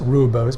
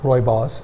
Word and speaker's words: Rooibos: black yellow and poor royos commonly Mis mispronounced ruos but it's royos depending on how you you you listen to a South African pronounce it does not come from